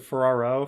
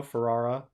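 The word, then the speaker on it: Ferrera: America ferrara's like uh is it Ferraro Ferrara um I don't wanna I don't want to get her her name wrong it's Ferrara America Ferrara um oh God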